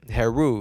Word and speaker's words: Heru: learned this word today hair rule that basically is like an Egyptian god that that demonstrates like being a hero and I was like okay it sounds like the word hero right Haru and I was like